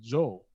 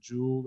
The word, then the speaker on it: Joel: I'm sorry, and DC, they couldn't pronounce his name Joel, so they'd call him Jay for short, or a few people called him Jewel, and then we just kind of ran with it from there.